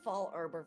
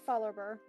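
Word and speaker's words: Fallarbor: I pronounced it as Fall Arbor for years. It's Fallerber.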